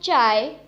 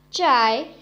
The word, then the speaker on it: zhai: So the next Pinyin is ZHAI, has a pronunciation of chai, chai. Repeat after me, chai. The next Pinyin is ZHEI, has a pronunciation of chai, chai. Repeat after me, chai.